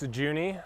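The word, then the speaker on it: Jouney: Could could you say your name and spell it for us, too? Yeah. What's your name? I'm Juny.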